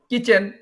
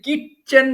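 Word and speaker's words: kitchen: pronunciation যদি ভুল করেন এটা হচ্ছে কিচেন এখানে টি কিন্তু উচ্চারণ হয় না এখন কেউ যদি কিট চেন বলে কিট উচ্চারণ করে তাহলে কিন্তু সে ভুল করলো ডোর দরজা উইন্ডো জানালা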